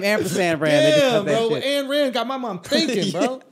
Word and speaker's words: Ayn Rand: I thought it was And. Oh, it's And Rand. And Rand. Yeah. It's just an ampersand with a Rand on it.